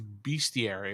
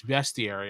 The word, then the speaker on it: bestiary: going too much in that into that yeah it's spelled bestier too Rick is Right everyone always assumed it was beastiary but it's not it's bestiary I have no idea why but uh best